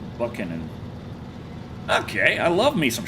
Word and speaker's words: Buchanan: Look up Lady Buchanan Buchanan. Probably pronounced Buckan.